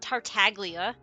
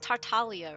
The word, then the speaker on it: Tartaglia: It's just Tartalia, right? The G is silent.